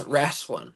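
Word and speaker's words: rasslin: well at no bones rasling so that's at no bones r a SS l i n wrestling the southern pronunciation of wrestling uh so at no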